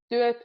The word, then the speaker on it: työt: Työt is a word, obviously, starts with a T and ends with a T, but in the middle there's the ö, so you can be quite strict with both T's.